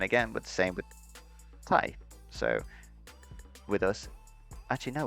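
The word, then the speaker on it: tai: is spelled like t it sounds the same as t-i-e in english so thai in english is the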